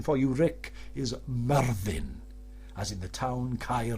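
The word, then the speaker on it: Myrddin: about that all the time and the correct pronunciation for you Rick is Marvin as in the town cair vervin Marvin so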